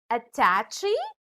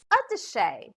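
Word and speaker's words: attaché: oops i heard you did you just say attachy the dictionary tells us that it should be pronounced as a touche for example i forgot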